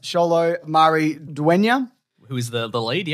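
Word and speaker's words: Xolo Maridueña: really liked I think his name is pronounced cholo Marie duenya who is the the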